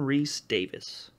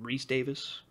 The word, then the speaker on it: Rhys-Davies: I feel like John Rhys-Davies. John Rhys-Davies. That's the guy. Really? That is not the name I remembered, but okay. Or there's a little dash in between his name. Rhys-Davies.